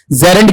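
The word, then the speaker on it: gerund: जरंड जर ठीक है इसका उच्चारण जब हम पढ़ेंगे तो शुरू में जी नहीं बल्कि क्या आएगा आपका जे आएगा ये इसका प्रोनंसिएशन है जरंड क्या होता है क्रियावाचक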